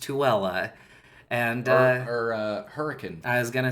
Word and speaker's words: Tooele: The town is spelled like Thule, but it's pronounced Tooele.